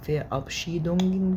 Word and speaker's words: Verabschiedung: ففير ده المقطع الاول، فمادام اخر المقطع اور وقبلها حرف متحرك مش هننطق الار، تنطق كانها كده فيع، او كانك بتحط فاو يعني كانك بالانجليزي VEA، كأن شلنا الار وحطينا يعني، فتبقى فيا Verabschiedung.